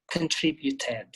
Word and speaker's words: contributed: The stress on a different part of the syllable. So I just wanted you to hear annual, appreciate, history, governor, contributed, where the stress goes on those words.